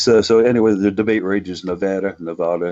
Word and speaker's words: Nevada: according to basically everybody in the state it's pronounced Nevada I know how to pronounce it just like